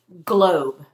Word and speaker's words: globe: And we had a silent E to make our O long.